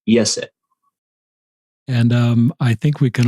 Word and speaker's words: Iese: Yeah, it's three vowels and one consonant. It's Iese, and it's pronounced Iese.